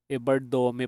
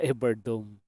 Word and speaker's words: Evardome: Ano pala ah mali pala ako ng bigkas nung apelido niya. Ebardome pala. Hindi pala Ebard Dome.